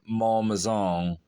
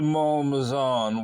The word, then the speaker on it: Malmaison: during a visit to Malmaison. Rhymes with Paul Mazan. During a visit to Malmaison, whilst Josephine was taking